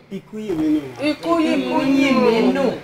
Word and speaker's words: Ikuyinminu: Did I pronounce that name well? Ikuyinminu. Yes. It's like Ijebu.